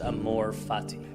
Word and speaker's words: amor fati: There's a Latin phrase pronounced amor fati.